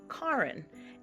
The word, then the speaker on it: Karen: spelled like Karen but it's pronounced Karin and that's because it's the Norwegian pronunciation of it so we were both